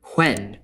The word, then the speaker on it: when: If you listen to older speakers today who still pronounce the H in these question words, you will hear that they put the H before the W. So it's what, why, when.